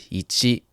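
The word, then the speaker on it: 一: This is pronounced ichi.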